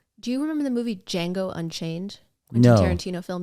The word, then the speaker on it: Django: D is silent, D.